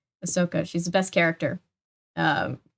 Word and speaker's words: Ahsoka: tardis uh iron man is on the side ashoka ahsoka why did i say her name wrong ahsoka she's the best character um from clone wars